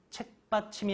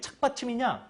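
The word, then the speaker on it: 착받침: 보니까 그냥 그렇게 흘러왔습니다 책받침이 아니라 그건 책을 받치는 거죠 정확한 건 착 아 착 받침입니다 왜요 왜 착 받침이 그것이 바로 이렇게 쓰는데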